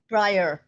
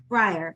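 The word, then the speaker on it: Bryher: friendship that Joyce Hemingway is it Brier b-r-y-h-e-r I'm not sure how to pronounce that um Diana could you unmute and tell me the proper pronunciation Breyer Breyer okay the friendship that Joyce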